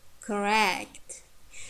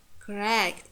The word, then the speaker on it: correct: So second syllable stressed if it's heavy. It means strong syllable. When we have long vowel or diphthongs, for example, apply, correct, apply, correct. You see, the first syllables are reduced. It has schwa sound.